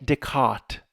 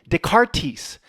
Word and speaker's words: Descartes: Renee Deart. There's You pronounce the T. Just dec. You don't just let everything go in the French. Renee de Renee Deart.